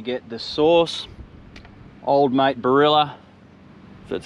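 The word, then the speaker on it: Barilla: we're going to get the sauce old mate barrilla that's how you pronounce it straight on those onions then the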